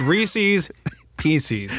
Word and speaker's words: Reese's Pieces: It has to be a rhyme with the word pieces. No, it doesn't. It's Reese's Pieces. They make a new word. It is Reese's Pieces.